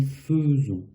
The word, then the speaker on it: faisons: Ici, c'est la seule exception avec faire, en tout cas au présent, avec faire pour nous, ce AI va se prononcer E.